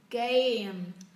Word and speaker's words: game: Trong tiếng Anh các âm đôi các bạn phải đọc xong các âm đôi, các bạn mới đọc cái phụ âm ở đằng sau. A, A, game, game.